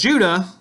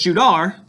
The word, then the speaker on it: Judah: So today we call them Jews, but because Judah saw it as Judar, or say it as Judar, excuse me, is how the Hebrews would pronounce it as Judar instead of Judah, was the last name for their country in Scripture.